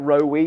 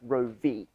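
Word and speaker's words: Roewe: the wrong way is the chinese name which is supposed to sound like rogue yeah yeah i mean i always pronounce it we but it's actually i believe meant to be pronounced row v as in sounding much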